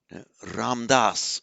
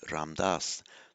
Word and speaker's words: Ramdas: Modern India for example ramdas for example in Sanskrit that we pronounced as ramadasa but in Modern India ramdas the slave of the